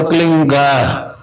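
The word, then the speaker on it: क्लीं: की मात्रा और बिंदी, उसका उच्चारण होगा क्लीन गा। गा की ध्वनि निकलेगी पीछे। आप अंग बोलो, यहां स्ट्रोक लगता है, अंग बोलो।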